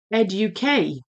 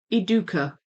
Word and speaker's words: Educa: So, it's not Ed UK. Oh, I didn't even know the K bit was an option. I pronounce it eduka. Eduka. So, so it could be ed or e. It could be k or k. It could be do or dune.